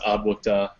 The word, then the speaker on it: ADWCTA: but it's just pronounced Adwukta. You Hmm. just got to remember the letters.